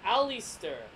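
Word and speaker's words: Allister: and her name is Alistair Alistair app like Alistair black spelled differently al li st t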